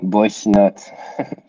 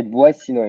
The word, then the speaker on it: Boissinot: Yeah, you can say it the American way, Boissinot. Boissinot. you can say Boissinot in French, but it's a bit tough to pronounce.